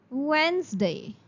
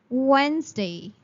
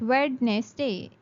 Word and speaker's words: Wednesday: The first word is Wednesday. Wednesday. It's not Wednesday. There's no sound of D. While saying this word, you say Wednesday.